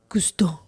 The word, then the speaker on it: Gusteau: Say it properly, Gusteau.